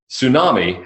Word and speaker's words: tsunami: Tsunami has one suppressed T.